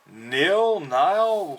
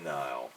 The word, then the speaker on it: Nihil: Nile, how do you pronounce this? I've always said Nil. I pronounce it as Nile. Nile? Like, what is this supposed to be, like nihilistic?